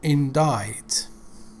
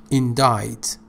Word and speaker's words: indict: limited to course books okay next word is indict which is a very difficult and formal word indict pay attention see is not pronounced and died indict another words from whatever